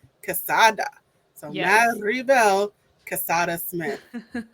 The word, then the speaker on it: Quesada: And then my first last name is pronounced Quesada, like quesadilla. Quesada.